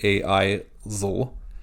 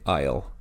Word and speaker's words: aisle: We don't say a-I-zl, we say aisle. It's all pronounced together.